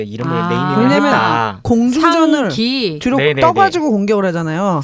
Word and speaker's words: 상: 상 이렇게 발음하는 거거든요. 그래서 이거는 상이라고 읽어야지 샹이라고 읽으면 안 돼요.